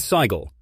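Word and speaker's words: Sighle: Their other children were James, Susan, Joanna, who became a movie producer, and Sigel, pronounced like Sheila.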